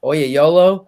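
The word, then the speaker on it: Oyelowo: by David Oya yo I'd always say his last name wrong Oya YOLO I think is how you say it he played Martin Luther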